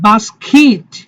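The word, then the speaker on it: basket: Athlete, athlete, athlete না, এটা বাস্কিট, বাস্কিট।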